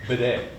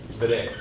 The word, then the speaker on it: bede: You can say that conjugates to bede. Bede. Bede. It's like that last syllable in wanom bede. Wanom bede. Bede. It's one syllable. Don't try to be de. It's just bede.